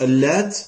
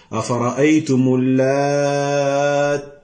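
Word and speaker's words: اللاتّ: lui parmi les salafs, qui prononce al-lat avec une shadda sur le ta. Avec une shadda sur le ta. C'est-à-dire, afara'aytumul lat.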